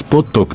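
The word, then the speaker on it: Pottok: Los caballos Potok tienen un físico compacto pero fuerte, aproximadamente entre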